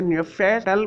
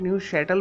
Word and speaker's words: Neufchatel: गलत प्रोनाउंस करते हैं इसे नफल बोल दे ते हैं क्योंकि दोस्तों इसके अंदर एफ जो साइलेंट है और सी एच जो है शीन की आवाज निकालता है तो इस वजह से इसे न्यू शटल बोला जाता है ना के न्यू कैटल